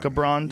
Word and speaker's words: Gibran: Gibran?